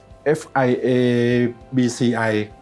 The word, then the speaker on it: FIABCI: ฟิตเนส ก็ ได้ นะ ครับ ก็ สถาบัน fia bci ออก เสียง ซ นะ ครับ ก็ เป็น สถาบัน